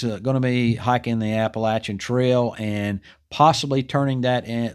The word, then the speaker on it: Appalachian: And by the way, the correct pronunciation is Appalachian Trail.